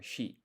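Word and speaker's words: 四: So 4, you can either say yon or shi. Yon is the one that's used like 99% of the time, because shi, apparently that's also, it means like death.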